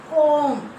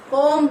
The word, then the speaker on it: comb: Silent letter is not there. Yes. Leave like that. Next, go to second one. Comb. Yes. Comb we cannot say. We have to read that one. Comb.